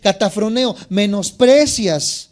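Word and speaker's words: kataphroneo: Dice K-A-T-A-P-H-R-O-N-E-O. Catafroneo se podría pronunciar.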